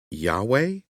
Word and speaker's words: Yahweh: Then I muttered, "Yahweh?" The newcomer smiled. "At least you pronounced it correctly."